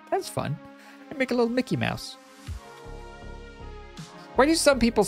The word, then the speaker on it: Mickey Mouse: this a mini yeah it's Mickey Mouse not Mickey Mouse you don't emphasize the Mickey part I think